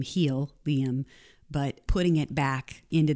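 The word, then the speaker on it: Healium: product was on purpose it's spelled H EA L I um he'll Liam but putting it back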